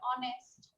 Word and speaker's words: honest: ও হ্যাঁ হ্যাঁ, এইচ যদি অনেস্ট, এইচ যদি ও এর মতো উচ্চারণ হয় তাহলে তার পূর্বে এন বসে।